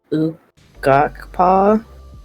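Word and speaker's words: Quapaw: they finally give me the pronunciation for it it's okpa is how you say the that the Indian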